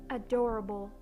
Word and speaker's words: adorable: Another example for words that have 4 syllables, like the word adorable. So I pronounced the A, O, A. But again, the E at the end is silent.